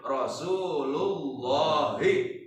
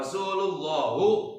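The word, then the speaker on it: رسولِ اللهِ: Jadi bacanya Rasulullahi. Jangan dibaca Rasulullahu atau Rasulullah. Bolehnya Rasulullahi. Kenapa Rasulullahi?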